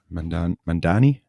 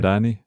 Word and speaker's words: Mamdani: Mandani. Am I saying it right? Mamdani. Yeah, I think it's Mamdani.